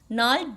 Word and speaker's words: gnarled: The stunted unlucky hair of twisted bones reciting a father's gnarled, G is silent here, gnarled disease.